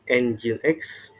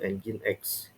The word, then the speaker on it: Nginx: Ada Nginx. Nah, kalau kalian sering nemu server yang tulisannya kayak gini, ini bacanya Ngin atau Nginx.